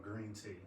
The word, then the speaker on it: Green Tea: It's called Green Tea. Uh-huh. So it's spelled GRNTEA. It means gaming, restaurant, nightlife, technology, Dope.